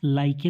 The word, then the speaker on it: like: उच्चारण नहीं करते, क्योंकि लास्ट में आए हुए ई हमेशा साइलेंट होता है, उसका कोई साउंड नहीं होगा। LIKE, लाइक, तो यहाँ पर इसे हम लाइके तो नहीं पढ़ते, क्या पढ़ते हैं, लाइक पढ़ते हैं।